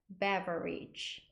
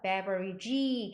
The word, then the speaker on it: beverage: e 요거는 어떻게 발음하면 beverage beverage 이렇게 발음하고 beverage 길게 빼시면 안 돼요 beverage beverage 하고 여러